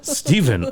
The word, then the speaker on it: Stefan: I think they or they pronounce that Steven. Oh, is that how you Jesus Christ? Steven Ali.